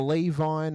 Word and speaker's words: Levin: is it Levin or Levine or Levine? How do we pronounce your last name, sir? It's just Levin, mate.